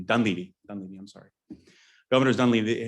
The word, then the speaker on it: Dunleavy: I always mispronounce his name. Dunleavy.